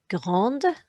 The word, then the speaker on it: grande: But when silent consonants are followed by a vowel, they can often be sounded. It makes them sound, and that's what's happening here. So it's no longer grand, but grande, no longer petit, but petite.